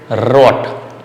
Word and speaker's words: rot: R is pronounced little different, rot. Okay, roll your tongue, rot.